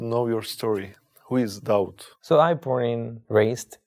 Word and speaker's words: Daud: it was david just i changed the pronunciation david to doubt david and doubt is